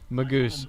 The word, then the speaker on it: Magus: Nice Magus cover, Magus, however you say it. Yep, so Nobody knows how to say it. Is it Magus or Maggot? Magoose. The Magoose. There you go.